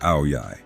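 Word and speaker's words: áo dài: hall wearing a white ow dye pronounced a Yi a traditional Vietnamese dress she had long black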